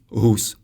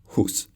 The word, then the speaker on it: Hus: The Czech H sounds like so we say Hus, not Hus. By the way, Hus means goose in Old Czech.